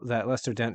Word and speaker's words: Lester Dent: also generally having the conflict, and then once we have these components, um, the Lester Dent. Am I pronouncing that right?